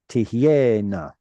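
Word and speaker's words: תהיינה: See, that one's a little frustrating because it looks like a chirik with a comma next to it. No chirik. Tihyena.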